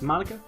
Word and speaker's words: Monika: And it sounds like you already know Monika, is that right? Or Monica? Is that how you say it? Monica?